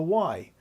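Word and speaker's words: wye: the power distribution one way is called the Y and so I'm going to draw three coils here in the shape of guess what a letter Y and this is spelled w-y-e if you see it written out and of course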